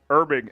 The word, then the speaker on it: Herbig: had a good draft irbing H is silent there they're big yep uh